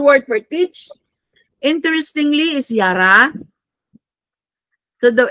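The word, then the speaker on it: ירה: The Hebrew word for teach interestingly is yara. So the it's pronounced as yara which means to direct the flow of water also like rainfalling.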